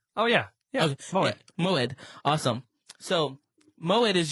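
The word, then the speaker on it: מועד: I think it's pronounced Moed. Oh, yeah. Yeah, okay. Moed.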